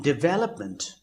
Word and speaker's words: development: And in development, the stress is visible at the 2nd syllable, that is VEL.